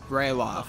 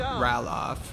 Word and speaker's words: Ralof: of just going wherever ralof that's how you pronounce it not roll off or roll off or whatever I said before oh I wasn't following